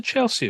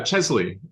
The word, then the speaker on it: Chesley: What's a Chelsea award? So, Chesley, Oh, Chesley, sorry.